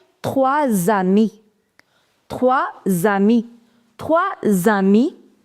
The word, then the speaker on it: trois: The pronunciation of combination OI in French is OA. So, MOI becomes moi. TOI becomes toi. TROI becomes trois.